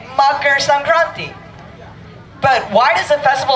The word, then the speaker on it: Makar Sankranti: It is very difficult to pronounce. Makar Sankranti.